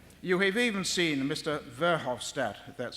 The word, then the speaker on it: Verhofstadt: Verhofstadt that's how you pronounce it their new head EU negotiator on